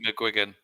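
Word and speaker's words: McGuigan: uh Paul Googy yeah muan yeah how you pronounce it what was it mcgan yeah mcgan okay um was he with the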